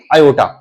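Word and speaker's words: iota: आई for imaginary, but we read इट what is the pronunciation of this I? आयोटा।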